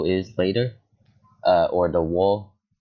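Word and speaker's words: を: You'll understand what the O is later. Or the wo, if you pronounce it like O, just like the O onegaishimasu, kudasai, right? You pronounce it like O, but it's actually wo in hiragana.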